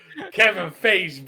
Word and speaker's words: Kevin Feige: Let's go, Kevin Feige, baby. Like beige.